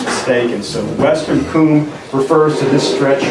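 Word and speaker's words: cwm: So coom is it's a weird word. It's spelled C-W-M. How do you get coom out of that? But it's Welsh. It's a Welsh word, and it actually means,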